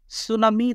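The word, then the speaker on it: tsunami: এইবার টি সাইলেন্ট আছে, এরকম ৩ টা ওয়ার্ড আমরা লিখেছি। প্রথমটা একটু দেখেন তো, সুনামি, তারপরে বললাম জার, তারপরে কি বললাম?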